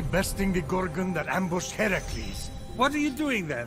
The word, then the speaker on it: Heracles: phoenix after boldly besting the gorgon that ambush heracles what are you doing there that thing with your voice the heracles yeah that that is how it's supposed to be pronounced seems like a lot of work but